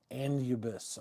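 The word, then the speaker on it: Anubis: Number two is andubis, I think is how you say.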